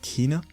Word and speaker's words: Kena: Now it is pronounced Kena and not Kena.